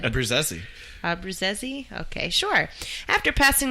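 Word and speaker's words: Abbruzzese: Pearl Jam drummer Dave Abruzzi. Sure. How do you say it? Abruzzi? No, that's how I said it. How it's supposed to be said. Abruzzi.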